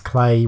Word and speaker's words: Clay: only recently found out I thought it was pronounced either fly or cleanup in this notion I've been opening Italy Paris it's clay rhymes with play as the who is